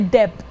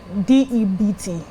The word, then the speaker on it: debt: Now we don't say debt. DEBT. We say debt.